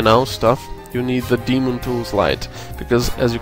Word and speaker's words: Daemon: you will need is something called daemon tools but it's spelled like diamond so da e mo n daemon tools oops it type